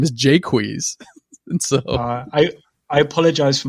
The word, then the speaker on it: Jaques: character in it, and his name's Jacques, but it's not Jacques, it's Jaques. And because if you know anything about iambic pentameter, he actually creates it's a 2-syllable word in iambic pentameter. Okay. So it's Jaques, blah blah blah blah blah. So you can't say Jacques.